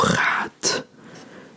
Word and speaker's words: gaat: So if you see something on the page, pronounce it. So then, this would be hoe gaat, with the T sound, hoe gaat het, and that means how are you.